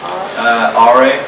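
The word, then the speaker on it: Åre: I read basically about how you grew up in how do you pronounce it? RA. RA? Yeah. RA, Sweden.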